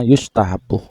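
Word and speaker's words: يُستحَبّ: Yang betul itu Pak Dul bacanya wa innama yustahabu.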